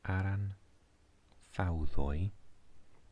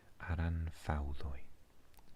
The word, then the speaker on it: Aran Fawddwy: A W is pronounced oo, and a Y is pronounced either or E. So aran fawddwy is how to pronounce this word, but English speaking people often think it looks impossible.